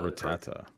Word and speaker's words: Rattata: On Rattata. Feel strong, man. How do you pronounce it? Is it Rattatat? What is this? I say Rattata.